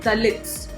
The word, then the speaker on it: Dalits: उसके बाद जो आपने वर्ड यूज किया DALITS, इसकी जो प्रोनाउंसिएशन है that is दलित्स. इट is basically the sound. ये ड साउंड नहीं है जैसे हिंदी में आई एम राइटिंग, ताकि आपको डिफरेंस क्लियर हो. दिस इज नॉट ड sound, this is the sound, दलित्स, right?